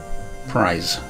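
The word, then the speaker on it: prise: apart or open something priz it oh prize it's pronounced like prize huh did not know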